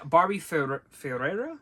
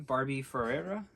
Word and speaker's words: Barbie Ferreira: and yep you got it right there and barbie ferreira is that how you'd say her name barbie ferreira yeah uh as kat hernandez fantastic great performance